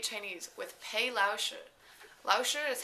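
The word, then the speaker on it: 老师: have chinese intermediate chinese with pai lao shu lao shi is how you say teacher in chinese and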